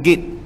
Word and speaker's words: git: Ini tuan-tuan tulisan Jawi, ejaan dia gayata git, tapi pengarang kitab ni dia translate dalam bahasa Roman kita ni giat, bukan giat. Orang Perak sebut git.